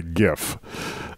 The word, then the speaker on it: GIF: say I just said Jeff and there's a lot of people say gif because it's graphics interchange format not Jurassic giraffe interchange format and it says like